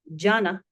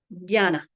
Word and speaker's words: jana: However, native speakers will often pronounce this as a dy sound. So rather than a harder J, it is pronounced as J. So rather than jambo it is rather than janna it is jana janna j.